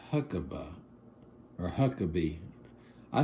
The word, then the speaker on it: Huckeba: It's huckab, but a lot of people call it huckabe. I know people with this last name and you know when I talk to them I don't say huckaba I say huckabe but it's spelled h u c k eba. So to me that's huckabe even though it's looks like huckaba.